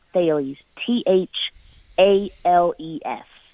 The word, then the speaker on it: Thales: because it does look like sales but it's pronounced Bailey's th al es Bailey's was a Greek philosopher so that's where we